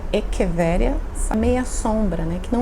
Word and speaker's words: echeveria: rosas de pedra, né, as echevérias, que na verdade se pronuncia echeveria, meia sombra, né, que